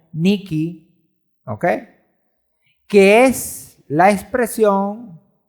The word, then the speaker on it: Nike: por la palabra Nike, que en el griego se pronuncia como Niki, ¿okay?